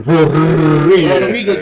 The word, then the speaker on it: Rodriguez: You guys said his name wrong. It's a Rodriguez, you got to roll that on.